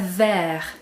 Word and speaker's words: vert: white and purple so with green we have ver right that's the masculine but when you notice